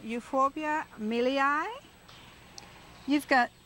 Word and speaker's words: milii: It's called Euphorbia milii.